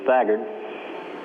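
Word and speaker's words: Thagard: for this Mission uh the correct pronunciation is faggard it's a good old Danish name and uh I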